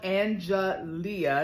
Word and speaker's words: Angelia: My name is spelled Angelia. It's spelled Angelia, but it's pronounced Angeli.